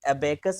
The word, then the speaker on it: abacus: नहीं भाई अबेकस बोला, जैसे आप कभी अबेकस बोलोगे तो कोई और कैंडिडेट बोले नहीं सिर्फ इसको अबाकस बोलते हैं। सो इट्स a depend pronunciation, ये प्रोनाउंसिएशन है, ऐसे कोई वरीड होने की जरूरत नहीं है ना? बट हम बेसिकली जितने भी इंडिया में हैं, हम लोग या तो अबाकस बोलेंगे या अबेकस बोलेंगे।